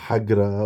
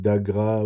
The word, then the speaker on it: Agra: Il parle de Hagra au lieu de la ville d'Agra où il dit Haimsa au lieu de Ahimsa.